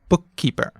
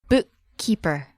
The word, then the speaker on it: bookkeeper: Think of the word bookkeeper. Try saying that out loud. Now, me sensei. bookkeeper. And we have two K's in the middle, right? Oh, yeah. And see how we kind of stop in the middle where the double consonant is. Bookkeeper. It's kind of like a pause in there.